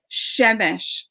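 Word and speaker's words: Przemyśl: But how do you pronounce the village in your book with a P that they lived in? Yeah, Shemish, because it looks just like that. It's not even a P? Yes. Przemysl.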